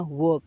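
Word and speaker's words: work: इसे वर्क नहीं बोलना, इसे बोलना वर्क, खाली आर को साइलेंट रखना है।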